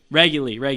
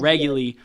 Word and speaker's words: Reguly: That's how you pronounce it? Reguly. There you go. Reguly.